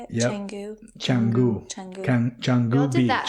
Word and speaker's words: Canggu: Canggu.